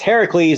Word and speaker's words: Heracles: goes look at poor Heracles and by the way we're using the Greek pronunciation her it's Heracles not Hercules is the